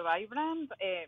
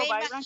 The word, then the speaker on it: Vibrant: Bueno, te hablo un poquito de la historia de Vibrant. Bueno, yo le digo Vibrant, que es como se pronuncia en inglés.